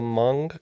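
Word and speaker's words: Hmong: believe it is the hamong culture yes it is the m culture uh sometimes spelled with an H sometimes without depending on the specific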